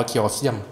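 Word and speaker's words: Chaoseum: อยู่ ว่ะ ชื่อ วง เคอ เซียม ชื่อ วง น่า จะ หมา จาก เคออส แล้ว เติม คำ ว่า เสี่ยม เข้า ไป เลย อ่าน ว่า เคอ เซียม เป็น วง ที่ มี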